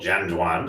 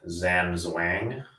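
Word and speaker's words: Zhan Zhuang: can check out called jen juan spelled with a z looks like zam's wang which means standing like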